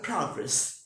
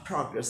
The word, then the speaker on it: progress: আর কি, উচ্চারণ হবে প্রোগ্রেস। Oh, sure, nowadays we don't have much progress in our activities, right? Progress, PRO, you have to intonate or stress here, PRO, progress.